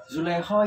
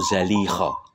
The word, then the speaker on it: Zalikha: Oh, ya dengan Zulekho itu, ya? Betul. Sebetulnya orang bacanya itu salah, bukan Zulekho ya. Itu Zalikho. Zalikho bukan Zulekho. Karena itu tidak bahasa Arab.